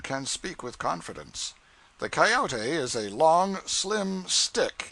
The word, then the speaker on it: coyote: If I remember rightly, this latter was the regular coyote, pronounced coyote of the farther deserts.